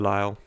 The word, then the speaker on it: De Lisle: Lyle regatta despite the fact that it's spelled del Isla it's the Lyell so thank you for